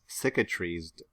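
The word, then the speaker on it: cicatrized: what is that word it is pronounced syca trees did you don't tell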